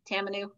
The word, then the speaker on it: tamanu: Is that the correct pronouncing? It's Tamanu, yeah, Tamanu, and grapeseed.